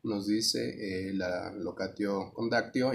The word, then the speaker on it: locatio conductio: Esta en particular, la pronunciación sería locatio condactio. Algunos cambian por ahí el acento en uno u otro lado.